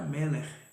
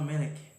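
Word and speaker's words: מֶלֶךְ: E quando eu passei a estudar o hebraico, eu vi que esse MLK era Meler, que as pessoas, talvez se fosse por isso, pronunciava Melech.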